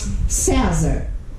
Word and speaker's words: César: César. César. É uma paroxítona terminada em R.